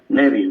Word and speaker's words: Neville: El hermano el Nevil se escribe Neville, pero más o menos se pronuncia Nbil, ¿verdad?